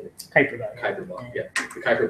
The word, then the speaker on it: Kuiper belt: Kuiper belt.